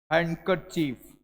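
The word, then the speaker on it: handkerchief: achieve कभी हैकर achieve अब देखो एन और डी मैंने क्या कहा था डी को साइलेंट पूरा कर देंगे यह अंग्रेजी पढ़ने का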